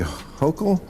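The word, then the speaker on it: Hochul: What do you New Yorkers think of how Mayor Eric Adams and Governor Kathy Hokll yes? Yes, you pronounced IT RIGHT.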